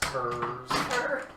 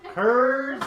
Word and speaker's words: Coors: Please, it's pronounced Kurz. Curds? It's Kurz, please. More Kurz.